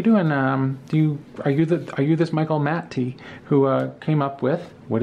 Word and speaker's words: Matte: It's by someone named Michael Matte. And I would say his name Matt because his name is spelled M-A-T-T-E, but I've been corrected because he and I speak on a weekly basis now.